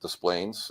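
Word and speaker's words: Des Plaines: Yes, we pronounce it Desplaines.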